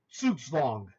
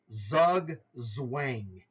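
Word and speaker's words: Zugzwang: guy like myself first it's a German word and you would say this word based on the way it's spelled in English Zug Zang which you may have used yourself if you weren't taught by somebody who was a much more uh educated chess player or someone who understands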